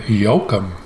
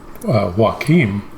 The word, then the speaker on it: Joakim: she was pronouncing it yokum and i've always pronounced it joakim kind of like joaquin phoenix the actor and i know some